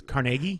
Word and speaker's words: Carnegie: It's a weekday, and it's at the you guys call it Carnegie Hall or something. Carnegie Hall, yeah. I call it Carnegie, but in Pittsburgh they say it's Carnegie.